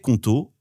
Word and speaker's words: Qonto: C'est une entreprise sur 5 en France qui se crée aujourd'hui avec Conto et c'est pas un hasard.